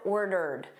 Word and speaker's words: ordered: I've I've ordered. So notice this e d here is just a soft d.